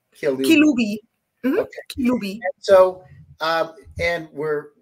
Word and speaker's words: Kilubi: Am I pronouncing right, your last name? Kilubi.